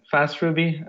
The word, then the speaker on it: faastRuby: faster me the idea you've got it right the idea is to have the FAA as function as a service but yeah it's a fast Ruby basically it's a platform that